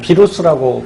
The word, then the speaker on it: 바이러스: 녀석이 누구냐면 바로 이 바이러스죠. 뭐 비루스라고 발음하기도 하고요.